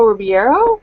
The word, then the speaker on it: Ribeiro: Next we have Alfonso Ribeiro. Is that how you pronounce his last name?